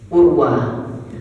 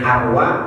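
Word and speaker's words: أروى: Urwa. Ada yang nyebutnya Arwa, ada yang nyebutnya Urwa. Arabnya gundul ya. Maka ada yang menyebut membacanya Urwa, ada yang membacanya Arwa.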